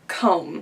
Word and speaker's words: comb: are different from digraphs so let's take for example the word comb so I know there's that really annoying V at the end of the word but that's a silent letter it doesn't mean that the M and the B combine to make one sound it just means that the B is a silent sound so you would say CBC for comb and